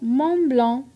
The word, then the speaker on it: Mont Blanc: Le T muet, comme dans Mont Blanc.